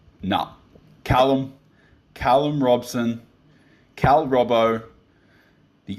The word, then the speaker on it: Callum Robson: name is it is it Caleb no Callum Callum Robson Cal Robo the Aussie Underground Legend